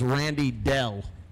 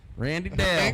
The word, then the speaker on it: Randy Dale: told the story, but I thought it was Randy Dell, like D-E-L-L. No, they just pronounced Dale incorrectly. Randy Dale. Incorrectly. And it's Randy Dale. Listen. But it doesn't sound like Dale till you know his name is Dale in the middle.